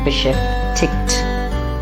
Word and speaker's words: beschäftigt: Now, normally, if it is ig at the end, we know that we pronounce it as ich, but here it is ig and a t, and so mostly we are going to pronounce the g as g.